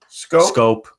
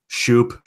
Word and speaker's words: Schoop: It's spelled SCHOOP. That's not Scope. It doesn't spell scope. That's Shoop. That's Shoop Badoop. It's not the damn mouthwash.